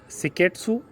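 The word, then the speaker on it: 清潔: पहला जो होता है वो होता है सीरी, दूसरा होता है सेटोन, तीसरा होता है सीसो, चौथा होता है सिकेट्सु और पांचवा होता है सित्सुके। यही इसका प्रोनाउंसिएशन होता है।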